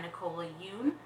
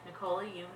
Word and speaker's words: Nicola Yoon: review of everything everything by Nicola you yeah Nicole you I'm pretty sure that's how to pronounce the name um it is I